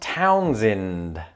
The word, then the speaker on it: Townsend: It was the other vowel sound. So again, according to another Reddit user who is from Delaware, apparently, it is pronounced Townsend.